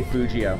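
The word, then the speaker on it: Fugio: way to pronounce that some people pronounce a little bit differently I I say the soft G I say Fujio Fuji oh yeah cuz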